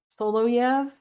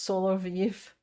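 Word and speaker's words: Solovyov: Um, uh, solo yavv. Oh, solo yav. Vladimir solyv. That's how I've heard people say it. But it's pronounced solo viv.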